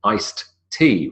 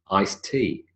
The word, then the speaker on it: iced: ice cream because even if it was written with a D we wouldn't pronounce the D we would elide the D the same with tea iced tea remember what we said